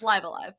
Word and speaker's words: Live A Live: I checked because I'm reviewing it for IGN and I have to do a voiceover for a script and I better say it right or the comments are going to be mad. It's Live Alive.